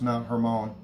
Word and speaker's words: Mount Hermon: moment i want you also to notice that mount hermon is up here it's actually pronounced mount hormone and caesarea philippi is pronounced kasaria felipe but